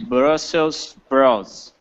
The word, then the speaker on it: Brussels sprouts: Technically that's true but yeah Americans delete the the S actually or we don't at least we don't pronounce it and often they don't even spell it on the package but usually course usually